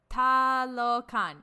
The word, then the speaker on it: Talokan: Talokan.